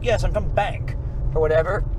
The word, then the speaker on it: Bank: When they were saying, when Connor was like, yes, I'm from Bank, or whatever, was that B-A-N-C? B-A-N-K. Oh, so it is pronounced like Bank.